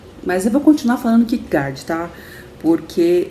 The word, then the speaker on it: Kierkegaard: Eu tenho que pronunciar de uma forma mais alemã, uma pronúncia mais perto do alemão, porque eu nunca ouvi dinamarquês, né?